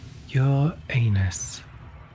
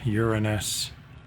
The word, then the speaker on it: Uranus: Your anus, it's pronounced Uranus.